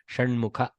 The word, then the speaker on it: Shanmukha: H is for Mahaprana. Shanmukha.